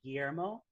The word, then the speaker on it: Guillermo: like i say but the pronunciation of my name is the double l's are kind of a y but that's hard for